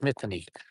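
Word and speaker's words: Mînî Thnî: always called Morley, and now it's Mithany. And I believe that's how you pronounce it correctly.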